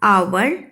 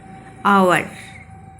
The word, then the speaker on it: hour: Similarly, HOUR, our, honor, honest, begin with a consonant H, but we use an before them because they begin with a vowel sound A. Okay. Honest, our, honor.